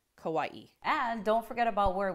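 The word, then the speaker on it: Kauaʻi: A lot of people say it as 2 syllables, Kauai, but actually it has an okina, so you pronounce the I separately, Kauai.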